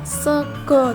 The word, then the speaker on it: sega: Contoh lainnya yaitu sega Sega itu jika ditulis menjadi sega menggunakan a. akan tetapi dibacanya sego Jadi dalam penulisannya menggunakan taling